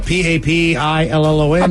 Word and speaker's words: Papillon: little French dog is called a uh uh p-a-p-i-l-l-o-n Papillon a Papillon correct Papillon designed for French